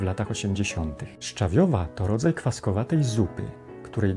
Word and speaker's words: szczawiowa: czy razem z czym spróbujmy więc przy szczyt szcza szczał w wstawi stawiają szczawiowy szczawiowa szczawiowa tutaj również akcje spada na drugą sylabę końca napiszcie w komentarzach jak